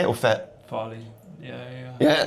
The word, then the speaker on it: Farley: Farley.